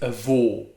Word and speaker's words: avô: it's pronuncia he pronounces grandfather is vo but grandmother is a vaw i can't hear the